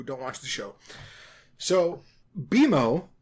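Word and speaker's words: BMO: So, Beimo, pronounced like B E M O but spelled B M O all in capitals, is a sentensient game console that Finn and Jake live with.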